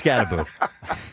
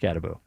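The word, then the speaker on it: Skattebo: Well, it's Scataboo. Are you sure? You went to Syracuse, huh? It's not Scatabo. I'm I'm It is spelled Scatabo. It is pronounced Scataboo.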